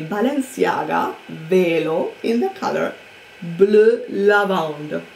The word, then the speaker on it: Bleu Lavande: I bought a Balenciaga Velo in the color Bleu Lavande. I'm pronouncing it in French because that is the name on the website.